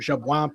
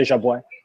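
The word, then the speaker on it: Jabouin: He does not pronounce it jab. He pronounces it something close to jabo.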